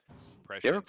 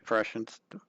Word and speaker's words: Prescience: We have the tiny toys, so if we get that convincing disguise online here soon, Prescience coming up next turn. Yeah, Prescience, not pre-science.